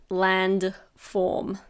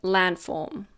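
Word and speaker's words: landform: I didn't say say land form when we say it naturally we almost don't pronounce the d we say land form this is a countable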